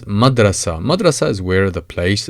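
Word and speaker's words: مدرسة: If you add M with a vowel R to the beginning and add ta marbuta to the end of it, which is always pronounced A, and it is madrasa.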